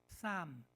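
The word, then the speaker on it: psalm: 시편을 영어로 쌈 피가 묵음이죠.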